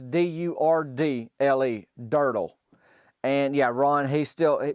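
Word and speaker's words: Durdle: It's not spelled like turtle. It's D-U-R-D-L-E, Dirtle.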